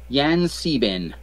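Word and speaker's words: Yan-C-Bin: letter c happened in okay got that um yan sieben yeah is actually how it's pronounced okay and he's no he's known as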